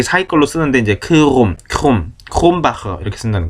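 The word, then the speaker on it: Krombacher: 크롬바에 크롬 크롬 이게 발음이 정확하게 우리말로 표기 어려우니까 크롬 홈크 크롬 막 이게 사이걸로 쓰는데 이제 크롬 크롬 크롬바흐다는 거 크롬바흐 에르딩거라는 맥주 있죠?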